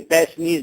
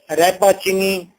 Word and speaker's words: Rappaccini: Don't pronounce it Repaxni, Rapachini, only the pronunciation for you, that's the easy one, and that is Repaxni's daughter. That is not an English name, actually that is an Italian name.